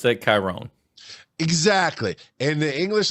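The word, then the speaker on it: Kyrone: with a K and in the English language and most other languages in the world that KY is a hard k whatever and o n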